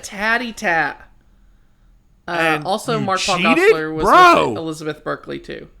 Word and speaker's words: Gosselaar: Mark-Paul Gosselaar. Is it Gosselaar? Gosselaar? I thought it was Gosselaar. I don't know. I'm going to say it like that. Oh, okay. Like dossier, but with a G.